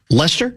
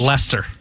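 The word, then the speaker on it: Leicester: Like the Hooers, Lester, that's how it's pronounced. Lester, came out of nowhere to win it all.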